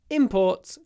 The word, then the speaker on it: import: so exports and imports in both cases we stress both syllables stress all the syllables exports and imports stress everything's stressed exports and imports import will